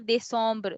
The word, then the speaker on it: décembre: So when the first E is with an accent, we are you pronouncing it as A, they. Okay. Second E is with the M letter. So it is making it as a nasal sound.